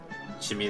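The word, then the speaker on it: Djimmi: I assume the D is silent, like it's written the Jin, but I think you're supposed to pronounce it Jin, right? So this is Jimmy the Great.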